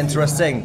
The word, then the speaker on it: interesting: 3 kali ngomong interesting. Nanti kalau di American accent guys, N ketemu T itu bisa dihapus T-nya.